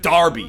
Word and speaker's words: Derby: it's not pronounced Derby's pronounced Darby even though it's spelled like Derby so yes I'd feared